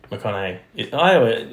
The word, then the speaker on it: McConaughey: McConaughey. I forget the G silent. I don't know American names, bro. I forget the G is silent.